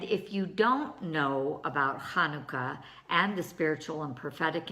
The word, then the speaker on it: Hanukkah: Well, that's the Het sound. It's rolled in the kind of in the back of your throat. So if you can think about clearing your throat, then you'll pronounce the first letter of Hanukkah correctly. So let's see here.